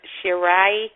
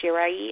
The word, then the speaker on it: Shirai: guys ever heard of I know a lot of people on internet pronounce it iOS shirai but it's actually iOS shiray have you guys ever